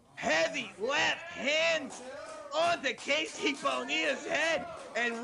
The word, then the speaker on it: Bonilla: what he's talking about the spanish pronunciation for that name is bonilla so godzilla would not